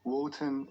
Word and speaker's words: Wotan: lower social classes wotanism woten is the german pronunciation of odin liszt claimed that the